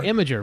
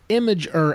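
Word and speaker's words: Imgur: I don't even know how you say it imer I IMG R imager right yeah yeah imager yeah it's just basically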